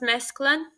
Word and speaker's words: mesclun: and let's see, so that was mesclun. It's a French word, so the N is silent. Let's see.